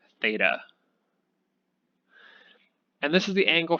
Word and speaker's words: theta: And we pronounce it theta.